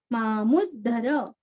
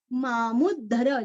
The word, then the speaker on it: मामुद्धर: त का उच्चारण चित्त लय और विसर्ग का उच्चारण आधा स चित्तलयस् सदा भवतु तुरस्व भवतु मे भो राम मामुद्धर मामुद्धर मूरस्व और यहाँ पे मामुद्धर जैसे उद्धव वैसे वहां पे मामुद्धर रामान्नास्ति परायणं